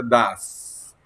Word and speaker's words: does: Se escribe does, pero se pronuncia das.